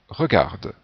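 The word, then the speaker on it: regardent: regardez, il ou elle regarde. On ne prononce pas le ent final, donc on a la même prononciation avec il singulier, il regarde, et il pluriel, il regarde.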